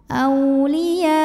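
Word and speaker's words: أولياء: Minhum au ada harfulin, sebab ada waw sukun didahului baris fathah, maka dibacanya lembut. Auliya. Jika berhenti di sini boleh disebut dengan mad wajib muttasil, sebab ada mad tabi'i bertemu hamzah dalam satu kata.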